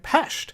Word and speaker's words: Pest: 2 million was once two cities Buddha and pesht separated by the Danube River all right so